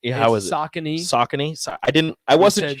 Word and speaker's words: Saucony: You said Sassoni. How was it? Saucony. Saucony. I didn't. I wasn't sure. Sassoni. I said Sassani. I don't know how to say it. Yeah, somebody says it's Saucony, Rico, not Sassani, or however the hell you pronounce it.